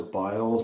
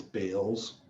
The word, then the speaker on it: Biles: And I thought it was Biles, but it's Bales. I've heard it pronounced as Biles. It's Bales.